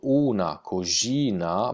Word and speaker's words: cogina: Anche qua una cogina, pronuncio, scritto una cogina, ma le N spariscono, non le pronuncio, una cogina, manna, le